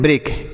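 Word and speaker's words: break: देखिए यहां पर देख लीजिए शब्द बी आर ई ए के और बी आर ए के ई तो इसे हम पढ़ते हैं ब्रेक। क्या पढ़ते हैं? ब्रेक। अब देखिए इसको भी हम ब्रेक ही पढ़ेंगे। बी आर ए के ई। इसे भी ब्रेक पढ़ेंगे।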